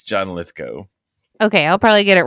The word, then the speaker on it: Lithgow: there's um a ton of people that I pronounce incorrectly and and and I feel appropriately shameful for it but yes John litho going forward it's John lithco okay I'll probably get it wrong at least